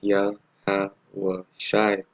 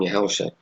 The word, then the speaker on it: Yahawashi: So the highlighted name is Yahawashi, and that's how you say it, right? That's how you say it. That's how you say the name, Yahawashi.